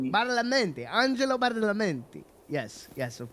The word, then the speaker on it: Badalamenti: Angelo, how do I pronounce his name? Badalamenti. Badalamenti.